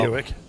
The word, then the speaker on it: Hewitt: Hewitt. It rhymes with Buick. That's how I remember. He told me to remember it.